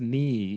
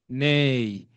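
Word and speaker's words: né: The the word is not pronounced ni. It's nay. It's French word, isn't it?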